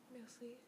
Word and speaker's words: merci: Merci.